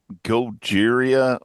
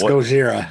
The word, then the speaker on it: Gojira: So, this next band I'm going to just Goeria. It's Gojira. Do you know what the how to pronounce that?